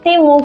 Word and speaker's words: Temu: llegaron de la aplicación temu o timu que es como se supone que se pronuncia pero en este canal no le vamos a decir timu porque timu suena a timo y no me parece